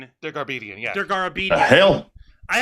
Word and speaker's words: Dergarabedian: From the I cannot pronounce this fucking guy's last name. Paul Dergarabedian. Dergarbedian, yeah.